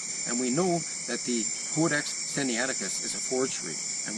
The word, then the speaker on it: Codex: Codex is pronounced with a long O, as in code.